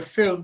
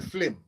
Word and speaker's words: film: we for example we I pronounce it the film Center most gu he call it the flim fil you know the